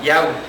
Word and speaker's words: Yahweh: nuestro Creador, que es el de las 4 letras, el Yud, Kei, Bat, Hei, que se pronuncia Yahweh.